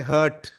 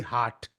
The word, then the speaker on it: heart: able to pronounce this word I've heard many pronunciations for this many people including you know people say hurt and we all know that the word should be heart so my heart is beating just imagine when